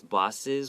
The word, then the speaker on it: bosses: You can say boss and sis, bosses.